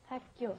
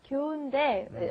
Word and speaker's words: 학교: 학교. Yeah. 학교인데, originally it's 학교, but when we say it, it ends up becoming 학교, 학교, 학교.